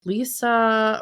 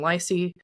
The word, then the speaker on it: Lysse: for our audio listeners, it's spelled Lysse, which I think somebody reading that who didn't know otherwise would say, wasn't it pronounced like Lisa or something like that? Who's he getting a gun that shoots ping pong balls for? Well, my dad specifically knew that Chester pronounced this name Lacey because it is Chester's official nickname for him.